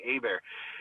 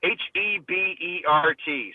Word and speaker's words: Hebert: See, my last name looks like Hebert, but it's actually a Louisiana French thing, Hebert. Hebert.